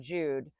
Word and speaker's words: Jude: The German Jude is the German equivalent of the English Jew. The J and the German Jude is pronounced exactly like the English Y and yes youth yacht.